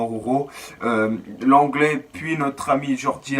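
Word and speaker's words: Araujo: Alors Arojo ou Aroro, moi je prononce directement Aroro.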